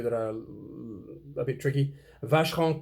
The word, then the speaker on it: Vacheron: Vacheron Constantin. Vacheron. You don't say the N at the end of Vacheron, and you don't say the N at the end of the Constantin. Constantin, Vacheron, Constantin.